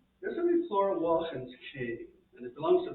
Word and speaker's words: Laughlin: like Neil Laughlin, but in Gaelic the L is pronounced like a W. So Wachan, you know, it's like the same like Ainslie, it's Wach.